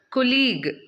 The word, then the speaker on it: colleague: Okay, next എന്താണ്, കൊലീഗ്. Okay, it's കൊലീഗ്, കൊലീഗ്. അപ്പോൾ ഇതിൽ 3 ഡിവിഷനാണുള്ളത്, കൊലീഗ്.